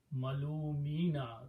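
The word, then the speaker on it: مَلُومِينَ: And in order to pronounce, you put a kasra under mim instead of dhamma. So kasra and ya sound go together. So it became malumina.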